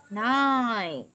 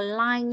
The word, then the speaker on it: nine: Không, mình đang nhầm âm L với âm N rồi. Số 9 mình đọc là N, N thấp cơ. Nine. Nine. Đúng rồi, nine. Không dùng, không đọc là line nha.